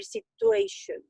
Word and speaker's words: situation: So it's, I mean, of course, in Spanish it's situación, but in English it's sich, like chango. Situation.